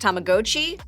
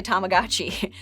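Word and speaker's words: Tamagotchi: wearable version It's called tamagachi uni technically it's pronounced tamagochi but you know what go easy on me I'm a child of the 9s and we all say tamagachi now they still make the classic version but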